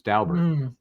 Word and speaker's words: Daubert: Last time I saw it phoneticized, it was DOW, like Daubert. You don't like that either? But listen to what Jason Daubert, how he pronounced it in his name. Yeah, I did. And again, it was Dow, like Dow Jones, Daubert.